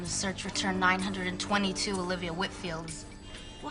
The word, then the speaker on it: Whitfield: Hi, I have a meeting with Olivia next week and just wanted to get the pronunciation of her last name correct. It's Whitfield. Whitfield.